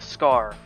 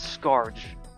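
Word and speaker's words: Skaarj: the scar that spawned s-k-a-a-r-j but it's just pronounced scar don't let anyone tell you otherwise it's it's not Scourge I or skirt or what whatever other people are calling it's ridiculous despite having a semi-tribalistic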